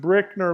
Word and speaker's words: Brickner: Um, by the way, uh, my last name Brickner is pronounced Brickner like bricks.